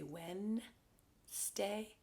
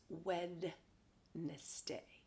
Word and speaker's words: Wednesday: so what wednesday and remember a lot of people pronounce it wrong they say when stay and really it's wednesday wednesday so make sure you